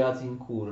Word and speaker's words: Agincourt: d'accordo us in cui si scrive agincourt si legge us in cura la battaglia avviata in